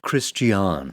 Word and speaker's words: Christian: it's pronounced Christian.